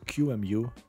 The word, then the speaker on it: QEMU: The topic of this video is QEMU, but I believe that QMU is the most widely accepted pronunciation.